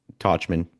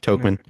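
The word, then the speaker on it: Tauchman: versatility or you Michael Tachman, how he's pronounced Tokman Talkman like talk man talking talking man.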